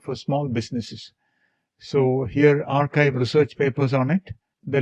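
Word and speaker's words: arXiv: For this we will use the archive database. It is a rxib pronounced as archive.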